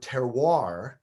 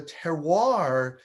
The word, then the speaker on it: terroir: Now, there's a French word, terroir, and that's about as good as I'm going to pronounce it. I hear French people pronounce it, there's a lot more almost syllables in that word.